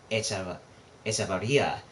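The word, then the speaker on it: Hechavarría: I think it's actually pronounced Echevarria in Spanish.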